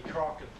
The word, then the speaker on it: Kraken: pronounced Ken Ken yeah I think that's probably the correct pronunciation but in English obviously people say cren they also say Kraken uh I suspect that it be Ken in the in the um